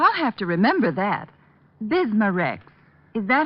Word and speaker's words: Bismarex: Bismarex. Is that how you say it? That's right, ma'am. B I S M A-N R E X. Bismarex.